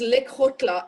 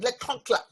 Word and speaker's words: Lekgotla: It is Lekgotla, L-E-K-G. O-T. So it has a sound in it, Lekgotla.